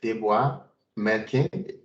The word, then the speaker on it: Deborah Melkin: Today's presentation is beyond the basic select, and then Deborah Melkin.